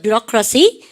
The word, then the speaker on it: bureaucracy: 발음을 갖다 서 뷰로크라시, 그렇습니까?